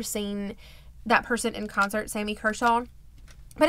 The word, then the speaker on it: Sammy Kershaw: a 10 a and I say it wrong every time I think I say Sammy khaw and it's Sammy Kershaw a Sammy Kershaw concert